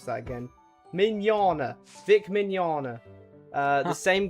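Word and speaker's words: Mignogna: How do you spell how do you pronounce that again? Minana.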